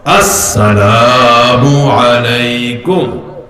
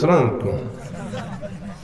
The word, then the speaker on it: আসসালামু আলাইকুম: আমি সালাম দিই, আপনারা আমার সাথে কর, আসসালামু আলাইকুম। আস, অনেকে সিনটা ঠিক মতো উচ্চারণ করে না, শুরুর আলিফ লাম তো নাই। ঢাকা শহরে অনেক যুবক আমাদেরকে সালাম দেয়, হুজুর সালাম আলাইকুম।